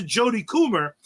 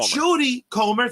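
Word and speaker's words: Jodie Comer: fact that they gave to jod cummer and and I'm probably saying her name wrong but but Jody comr thank you Jody sounds exactly exactly like her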